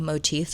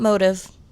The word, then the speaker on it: motif: a design or a motif in it, which also, by the way, that is how you pronounce that word. Motif, not motive. Not motif, motif.